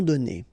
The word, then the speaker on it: donnés: So donner, okay, so whether it would be without this final es or with es, you will pronounce it the same way. Tes amis nous les ont donnés.